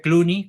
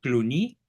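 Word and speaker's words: Cluny: de cluni en Francia escribe cluni con y se pronuncia cluni había un famoso abad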